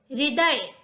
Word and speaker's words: हृदय: हृदय, ह और रू, री दोनों बोलना है, हृदय।